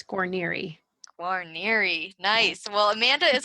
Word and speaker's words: Guarniere: last name before I butcher it totally it's coronary coronary nice well amanda is a mom a